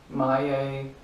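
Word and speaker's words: Maye: Drake Maya, yeah, that's how you pronounce it.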